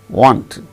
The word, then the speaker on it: wanted: Want, wanted, faint, fainted, plant, planted, planted, no, fainted, no. The stress shall not be on the last syllable. The stress should be only on the first syllable.